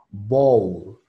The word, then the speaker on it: bowl: Voy a pasar a explicar cada fonema. Tenemos lo que es la B, es una B normal, B, B. Tenemos lo que sería una O, igual una O cerrada, no es una O hueca, tenemos dos pronunciaciones para la O. Es la O normal y la O, O, O. Aquí vamos a usar la normal, O. Bo, bo. Luego tenemos una U. Esta U suena diferente a lo que es